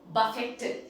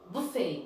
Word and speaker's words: buffet: And then buffet is what we Indians say, don't we? Buffet. How was the food? It was a buffet. Okay, but then the right pronunciation is buffet. Buffet. That is the correct pronunciation.